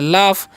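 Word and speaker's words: laugh: आगे लिखा हुआ है एल ए यू जी एच। तो इसे हम क्या पढ़ते हैं? इसे हम लोग पढ़ते हैं लाफ।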